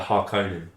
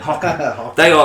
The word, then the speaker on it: Harkonnen: And my favourite group, the Harkonnen. The bad. Oh, Harkonnen, that's what I was thinking. You're pronouncing it better than me. Harkonnen.